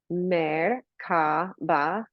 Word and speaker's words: Merkaba: Merkaba, you can look at it as like three syllables, or Mer stands for light, Ka is spirit, Ba is body, physical body.